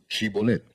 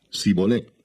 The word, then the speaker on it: Shibolet: Si él respondía: No, entonces le decían: Ahora pues di Shibolet. Y él decía Sibolet, porque no podía pronunciarlo correctamente.